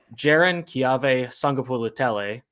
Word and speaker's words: Jaron-Keawe Sagapolutele: And the third was, there was another interception that Jaron-Keawe Sagapolutele, that's the pronunciation for all of you people out there,